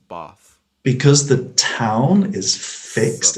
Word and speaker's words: Bath: say like like but for the town it's bath because the town is fixed in the south